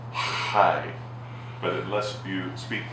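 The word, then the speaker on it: חי: word it's high it's they pronounce it high but it lets you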